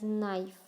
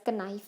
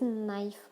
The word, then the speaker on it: knife: word is pronounced as knife. This word is pronounced as knife. It is not pronounced as knife, it is knife. So K, as you all know that it is a silent part.